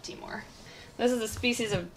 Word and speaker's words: Timor: They're native to the Timor Islands. Well, that's how you pronounce the islands, so that's how we pronounce the lizard species. I know some people call them Timor monitors, but we like Timor.